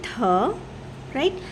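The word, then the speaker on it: 다리: नाउ the next example is थारी okay here the position of थिगत इज़ इन the first place right so the sound will be थ right and then फॉललोड with uh vowel so it becomes था। नाउ the position of real over here is इन the second place. Right? So नाउ the sound will not बी ल बट it will be र ई री so this becomes थारी okay now the next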